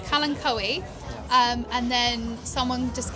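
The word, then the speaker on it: Kalanchoe: I was pronouncing Kalancho because that's how I still do that. Yeah. Like everyone in my where my region they pronounce it Kalancho because that's how it's spelled and that's how you do it.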